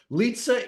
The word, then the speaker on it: Lizza: So Lizza is the proper way of pronouncing your last name, or am I wrong?